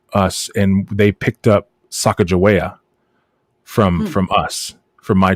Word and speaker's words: Sacagawea: expedition came through us and they picked up sacajawea from from us from my tribes and uh but her name is not pronounced sacagawea it's pronounced sagawiya it's actually one of my native tongue words